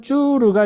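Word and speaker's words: צור: 그니까 히브리어로는 슈르예요. 그리고 또 하나는 쭈르가 있습니다. 그래서 출애굽기에 수르의 수루와 민숙의 족장 쭈르는 발음만 비슷할뿐 전혀 다른 단어다라는 거예요.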